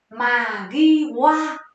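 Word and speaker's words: 間際: Từ này đọc là Magiwa.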